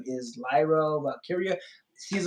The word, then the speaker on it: Valkyria: So on Raw, they have the first ever women's Intercontinental champion, which is her name is Lyra Valkyria.